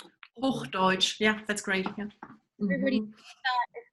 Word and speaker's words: Hochdeutsch: There was a question in the chat about if everybody speaks, I'm going to mispronounce this, Hochdeutsch? Hochdeutsch.